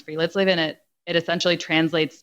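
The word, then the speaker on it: friluftsliv: chapter is about this wellness concept it's called free let's live it's spelled f t f-r-i-l-u-f-t-s l i v pronounce free let's live in it it essentially translates to the free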